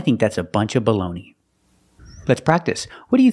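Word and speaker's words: bologna: this is American English I know in Italian it's bolog but this is not Italy this is America we say baloney the first word is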